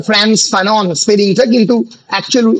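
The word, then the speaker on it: Frantz Fanon: great French অ্যাংলো carry Caribbean ফ্রান্স ফানো অনেকে ফ্রান্স ফ্যানো বলে ফ্রান্স ফানো যদিও মানে উচ্চারণটা ফ্রান্স ফানন স্পেলিংটা কিন্তু একচুয়াল উচ্চারণ হচ্ছে ফ্রান্স ফানো ফানো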